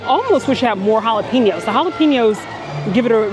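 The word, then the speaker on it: jalapeño: We have our jalapeno, which I like to fondly say jalapeno, right here. Oh, man, I can't even pronounce it incorrectly. It's jalapeno, apparently, okay?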